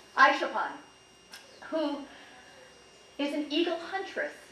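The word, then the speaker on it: Aisholpan: And she stayed with the family of a girl named Isafal, is that the way you say her name, Connie? Aishapan, who is an eagle huntress.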